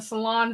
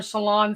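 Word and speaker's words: Ceylon: of cinnamon there's a cassia cinnamon and a salon cinnamon Salon cinnamon is high lighter in color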